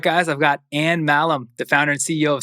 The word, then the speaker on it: Mahlum: All right, guys, I've got Mahlum, the founder and CEO of solidcore. Anne, welcome to the show. Wow, you pronounced my last name correctly.